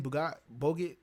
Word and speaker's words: Bacot: Bogut? How you say it? Baguette? Bacot or something like that? Bacot, yeah, sorry. Bacot.